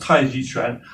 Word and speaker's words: Tai Chi Chuan: In Mandarin Chinese, it's pronounced Tai Chi Chuan, but that's a Chinese martial art where we